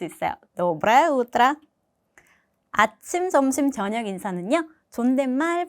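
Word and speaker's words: доброе утро: 노브라우더라. 노브라오더라. 마찬가지로 조금 더 딱딱하게 들릴 수 있지만 신경 쓰지 마세요. 그대로 발음을 하시면 됩니다. 노브레 오더라. 자, 강세 외의이 몸은 아로 발음을 하시면 돼요. 그죠? 노브라예 우뜨라.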